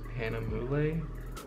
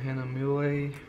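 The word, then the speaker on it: Hahnemühle: And this one, I believe, is pronounced Hanamule. But it is also a cold press watercolor paper, and it doesn't have too much texture to it.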